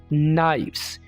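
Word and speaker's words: knife: English में नाश करेंगे नाइस यहां पर हम के को साइलेंट रखेंगे इसको हमने बोलना नहीं है ठीक है ना इस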